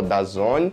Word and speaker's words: DAZN: E a Conmebol anuncia que a plataforma de streaming DAZN, na verdade se escreve DAZN, mas se fala DAZN, tinha comprado e era a única detentora a